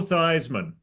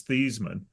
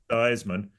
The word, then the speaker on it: Theismann: Joe Theismann, who changed the pronunciation of his last name to rhyme with Heisman. It technically his real pronunciation of his name was Thiesman.